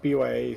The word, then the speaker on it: bYa Fox: pronounce your name actually I've always said Fox but I'm not sure if that's uh how you like it pronounced or uh the B is fine uh it's just bo uh like a little